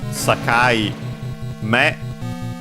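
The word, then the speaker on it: 境目: Okay, so yes, it was a compound. Sakaime, accented on the last one.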